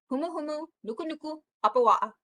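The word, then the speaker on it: humuhumunukunukuāpuaʻa: Okay, it's humu humu, nuku nuku, apawa'a. So when you see two A's together in Hawaiian, it's a'a.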